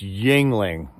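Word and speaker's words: Yuengling: right it's right Colorado it's Yingling I still don't know how to spell it but uh I know how to say it y u ening Shiner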